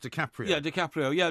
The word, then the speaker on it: DiCaprio: Actually pronounced DiCaprio.